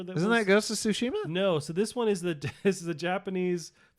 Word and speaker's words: Tsushima: No, Shimita. Okay. Tsushima.